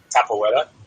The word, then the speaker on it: capoeira: Is that how you pronounce it? Capoeira? Capoeira.